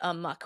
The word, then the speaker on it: amok: Do you say amok or do you say amok? Typically, I say amok, which interestingly is closer to the original Malay spelling, which was amuk.